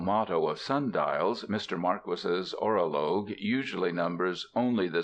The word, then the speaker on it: Marquis: perfect state by Don Maris Don Maris is a real name not a pseudonym it is pronounced Marquis not Marquee I reprint here two